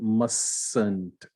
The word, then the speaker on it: mustn't: Mustn't, right? The T is not spoken.